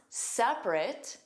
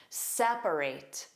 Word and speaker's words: separate: So, in the adjective form, you hear two sounds, separate. In the verb form, you hear three sounds.